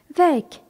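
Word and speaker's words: weg: ici da signifie là ve W E G est un adjectif qui signifie loin remarquons que le G final se prononce ici comme un K quand on dit M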